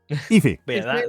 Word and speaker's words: Aoife: Aoife. I pronounce it Aoife.